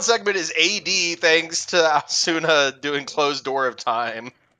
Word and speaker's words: Aosuna: I've been saying Asuna because it reminded me of Naruto, but I think it's Aosuna. Aosuna, okay.